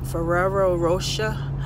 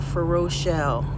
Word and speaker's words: Ferrero Rocher: laugh at me but it's Ferrero Rocher I used to call it for Rochelle but it's a you